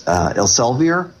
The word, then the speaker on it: Elsevier: I always have trouble with the pronunciation, but it's Elsevier, big European company, big European publishing company in medicine.